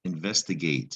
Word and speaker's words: investigate: It comes from the root investigate. And if you investigate the end of this word, there's a silent E again.